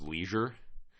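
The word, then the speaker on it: Leasure: whose last name is Leisure so the leisure suit Jordan Leisure it's not spelled Leisure it's spelled like L EA s u r e but still uh sounds like a Chicago white sock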